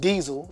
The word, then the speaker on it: Dyzell: where daisell came from because you could pronounce it diesel if you look at